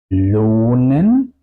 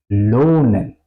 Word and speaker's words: lohnen: Lohnen, kochen. Otra vez, al final de las sílabas, por eso las vocales suenan largas.